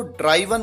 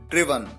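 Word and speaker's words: driven: कई बार स्टूडेंट्स इसकी third form को ड्राइवन कहते हैं, ये गलत है, आप ध्यान रखिए, इसका करेक्ट प्रोनाउंसिएशन है ड्रिवन।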